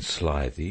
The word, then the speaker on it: slithy: to pronounce slithy toves the eye in slithy is long as in writhe and toves is pronounced